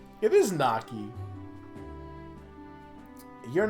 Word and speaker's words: gnocchi: But my family always pronounced it gnocchi. Also, I can't be blamed for pronouncing it Naki because there's no I in there.